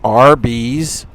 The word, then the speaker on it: Arby's: say tell the folks Arby's how do you say it RB's RB roast beef and they just made a word a B like a ftic spelling of the letters it's the never knew